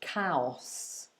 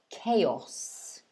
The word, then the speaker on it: chaos: pronounced um differently so some of my students have pronounced it cows um chaos but it's not a it's actually pronounced k chaos i'll show you the phonetics chaos so two syllables chaos the meaning of